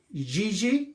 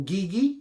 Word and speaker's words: Gigi: And this one is called Gigi or Gigi, whichever you want to pronounce it, G-I-G-I.